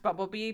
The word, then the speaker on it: BMBLB: It's pronounced Bumblebee, but it's just Bumblebee without the vowels.